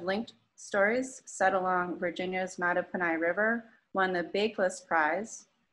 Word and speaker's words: Mattaponi: golf a novel the art of waiting and mata punai queen stories i had to look up how to pronounce that word i did it right right